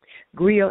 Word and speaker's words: Griot: Just to add a few more things to the list of things that I do, I am the founder and CEO of Griot Publishing House and Griot International, LLC, as well as the Right Cipher.